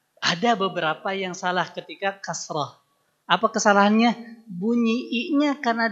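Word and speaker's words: كسرة: kasrh kan baru kita bahas kasrah bukan kasroh nah jadi kasrah biasanya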